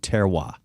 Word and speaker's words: terroir: term, and it's called terroir. Terroir. Are you familiar with terroir? I am not. Looks like terrier, only it's pronounced terroir.